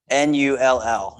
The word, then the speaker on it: NULL: NULL is how you spell the name. Not like my last name, NOELL. It's pronounced the same. NULL, NULL.